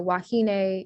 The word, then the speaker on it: wahine: So in Hawaiian, the A sound is spelled with an E. So wahine, ukulele or ukulele, and then mele all have that A sound.